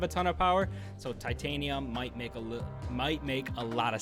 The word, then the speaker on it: Titania: I know I've been pronouncing her miscorrectly, but Titania, I've been working on it, so thank you.